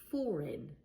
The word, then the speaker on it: foreign: Another example, foreign. Foreign. If you're learning English, you might be a foreigner. Foreigner. But the G before the N does not make a sound. I'm only hearing in.